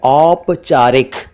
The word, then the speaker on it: औपचारिक: एक है औपचारिक, औपचारिक नहीं, औपचारिक।